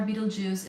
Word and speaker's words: Betelgeuse: compare that if you look at the star Beetle Juice is going to supernova I mean I meant